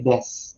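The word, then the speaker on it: です: Okay, des. Okay. So bakit? Kasi may devoicing of u. We drop the sound of the u.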